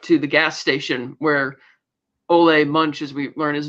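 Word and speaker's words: Ole Munch: in the dark to the gas station where olle Munch as we learn his name is pronounced kills Gator's Deputy with pinning the note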